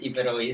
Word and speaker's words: iparogi: Certain people couldn't pronounce iparogi, so then Father David was like, think pierogi. And then So he added he makes e this, pierogi. pierogi. Yeah. Iparogi. Yeah, iparogi. Kind of So- looks like a pierogi Yeah.